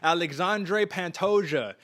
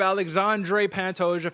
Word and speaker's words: Alexandre Pantoja: i mean i'm gonna show you how to pronounce it right here aj i got you alexandre pantosia number five alexandre pantoja facing off against mannell cape at flyweight and